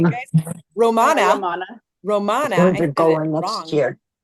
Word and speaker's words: La Romana: Erin's going to be training us on how to earn the incentive trip to La Ramona. Did I say it right, Mhm. guys? Romana.